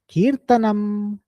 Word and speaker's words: Kirtanam: So in Sanskritam, the correct pronunciation is Shravanam, Kirtanam, Mananam. You should complete it fully.